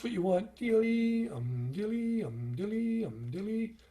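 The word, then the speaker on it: dili: a high a doubling it's spelt d-i-l-i and if you tried to sing that it's not dylai it's kind of a soft dice a dilly dilly like a dilly bar from the dairy queen and you think of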